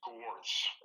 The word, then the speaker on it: Gortz: Her last name and my son's last name is pronounced Gortz. Gortz. It's Okay. kind of a hard one. It's a German name, just like my last name is also German, Netz, so it's Gortz.